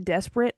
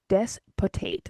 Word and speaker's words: despotate: Oh, Like despot, Tate.